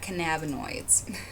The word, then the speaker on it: cannabinoids: 1 controlled substances in the form of synthetic cannabinoids and that is how you say that cannabinoids at sentencing each defendant faces a potential sentence